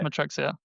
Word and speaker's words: Matrixia: Founder of Matrixia, if I pronounce that right. Yeah, that's right. Yeah, That's right. yeah, Matrixia.